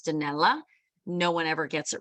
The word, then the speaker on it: Danelle: very different phonetically my my name sounds like Janelle in Italian it's danella no one ever gets